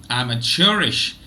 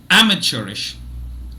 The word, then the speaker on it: amateurish: divides itself similarly but in the British English pronunciation the first syllable is stressed and in the American